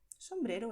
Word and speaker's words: sombrero: Y aquí ves que la R se pronuncia con la punta de la lengua sin expulsar el aire, sin vibrar, ¿vale? No hay aire y no hay vibración. Sombrero. Es solo la punta de la lengua tocando los dientes.